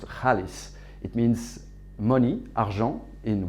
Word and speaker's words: Xaalys: are promoting is that zealous actually pronounced Hollis it means money Jean